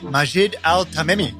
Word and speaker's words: Majed Altamimi: I'm joined by a special guest today, Majid Al Tamei. Did I get the pronunciation correct?